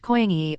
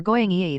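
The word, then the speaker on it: 고양이: Cat in Korean is pronounced koyang-yi or goyang-yi, therefore the niang, also referring to the sounds cat make written as niang in Korean.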